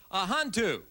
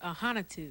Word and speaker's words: Ahanotu: right we have douroo a huntu how'd i do yeah well my last name's pronounced ahanitu i knew it i